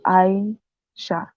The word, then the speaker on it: Aisha: My name is Aisha. 2 syllables. Clap it out if you want.